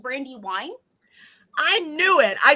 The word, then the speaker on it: Brandiwyne: by the name of Brandy WN is am I pronouncing that right uh it's that's actually a very common problem um it's pronounced Brandy Wine I knew it I